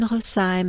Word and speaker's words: Rosheim: it's actually a loop so they start in hossaim and they will finish soon in host time